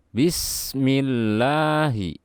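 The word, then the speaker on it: بسم الله: setelahnya adalah full jalalah jika sebelumnya terdapat harokat kasrah dibaca tipis jadi seperti ini bacanya Bismillahi dan disini tentunya ada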